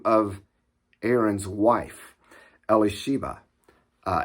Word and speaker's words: Elisheva: name of aaron's wife elisheva uh elisheva is how it's pronounced in hebrew elizabeth is how it